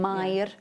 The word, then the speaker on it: Mair: Yeah, it's a lovely name, Mair. You've got to be able to roll your R's when you say Mair.